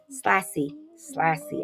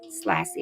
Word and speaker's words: Slassy: Slassy. I think it's Slassy. Like classy. Slassy.